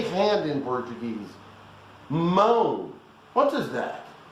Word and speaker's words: mão: Mão. What is that? That is mound. You know, like a mound of rancid butter. Mound. Without the ND is mão.